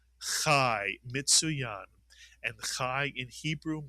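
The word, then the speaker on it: חי: This word is pronounced chai mitzuyan.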